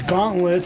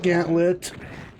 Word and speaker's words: gauntlet: the longest time um I mispronounced it as Gauntlet for the longest time but it is indeed Gant lit now is it like